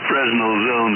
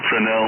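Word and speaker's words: Fresnel: it wrong you know I always use still pral fral zones fral zones instead of frenel um because I read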